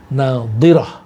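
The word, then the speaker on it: ناضرة: Yang di depan nadhirah pakai dot, nadhirah.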